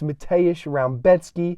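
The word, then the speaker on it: Mateusz Rębecki: We got a tough Polak up next, Mateusz Rebecki. That's how you pronounce it.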